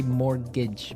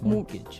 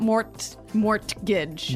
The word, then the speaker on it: mortgage: Yeah, it has a T in it, but you don't pronounce it. You say mortgage. Mortgage. So not mortgage.